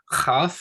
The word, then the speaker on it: Chaf: Chaf and Chet are both that guttural sound, as in Bach.